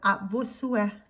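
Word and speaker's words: à vos souhaits: You say a tes sue or a vos sue if you're talking to an older person or somebody that you respect.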